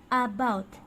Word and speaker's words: about: Careful that you're not pronouncing like an a, as in apple, okay? It's not about, but it's very soft and very big.